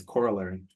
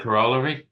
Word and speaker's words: corollary: SCH next the sorry you pronounced it correctly it's corollary okay great I was you could tell my hesitation I'm glad I got it right it's not corer no I've been saying